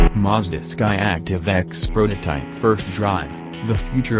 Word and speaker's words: X: Skyactiv X, pronounced X not 10, is the powertrain sign of the next iteration